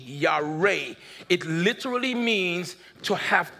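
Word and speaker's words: yare: it for you the the hebrew word for fear y-a-r-e ya-ray it literally means to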